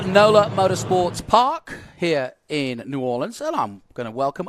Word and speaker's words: New Orleans: Orleans as like have I said it right New Orleans yep there you go uh he's also been